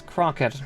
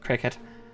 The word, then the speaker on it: Crockett: name to begin with I said chiid Cricket um cuz I kept forgetting it's Crockett not Cricket it's my fault I'm